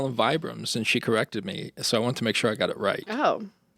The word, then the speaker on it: Vibrams: Vibrams.